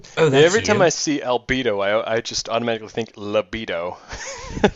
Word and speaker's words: Albedo: I see albedo, I just automatically think libido. That's Oh, come on. For some reason, everyone that doesn't know the character always pronounces it like bed, not bedo.